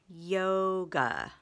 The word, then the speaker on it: yoga: yoga today yoga okay we've got two syllables both are open syllables yo is a long o it's just a normal open syllable but GA a it's an exception because it's an open syllable that is not a long a it is awah it's a uh yog that's how to mark